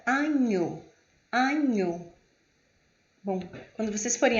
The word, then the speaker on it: agneau: O GN tem o som de NH, como a palavra agneau.